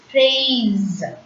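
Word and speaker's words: fraise: A-I in French is pronounced as A. So, phrase. And hope you remember this rule. If S comes between the vowel sounds, S will be pronounced as is. So, F-R-A-I-S-E is pronounced as phrase.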